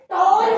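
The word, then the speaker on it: tall: एक कॉन्सोनेंट हो फिर ए हो, हाँ, एक कॉन्सोनेंट फिर ए फिर डबल कॉन्सोनेंट, तो ए की साउंड यहाँ पर क्या हो जाएगी? ओ। जैसे टी A double L टॉल हो जाता है, एफ ए डबल एल को फॉल कर देते हैं, और डब्ल्यू ए डबल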